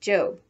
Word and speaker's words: Job: off to her job which in the bible is pronounced job remember that the one